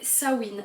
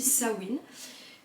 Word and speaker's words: Samhain: c'est toujours païen mais qui s'appelait sawin alors ça s'écrit sama donc vous pouvez l'entendre des fois parler ça m'a ça m'aide ça il main Simon je sais pas quoi ça s'écrit Sahin donc quand on lit on lit ça mène mais en fait ça se dit ça win et c'était une fête